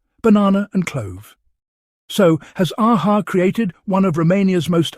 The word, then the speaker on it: AHA: It's AHA, like the band. It isn't AHA, like I'm reading out somebody's registration plate.